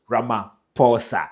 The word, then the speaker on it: Ramaphosa: As you've already started doing, Ramaphosa.